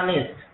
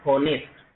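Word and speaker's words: honest: ठीक है ना, तो यहाँ ऑनेस्ट, इसका प्रोनाउंसिएशन करके देखिए आप एक बार, ऑनेस्ट, ठीक है ना, नहीं कि होनेस्ट, ऑनेस्ट। ठीक है ना, तो इसका जो प्रोनाउंसिएशन हम करेंगे वो आपका बनेगा ऑनेस्ट।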